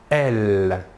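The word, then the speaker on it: elles: troisième personne du pluriel est elle même chose que pour le masculin l'aes finale ne se prononcent pas voilà pour les pronoms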